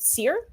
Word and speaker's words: Sear: Is it Sear? Sear, yes. Bill Sear wrote an article